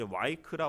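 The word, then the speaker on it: ויקרא: 이 책의 성경은 이제 와이크라 혹은 뭐 발음에 따라서 바이크라라고 하는데, 제가 예전에도 말씀드렸지만 이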